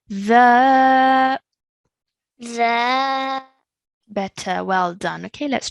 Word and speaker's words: ذا: Now this sound over here again, I want you to take the tip of your tongue, touch it to your top two teeth at the front, okay? The ذا better, well done.